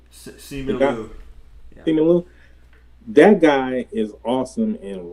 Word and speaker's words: Simu Liu: How you pronounce his name? Simu Liu. Simu Liu.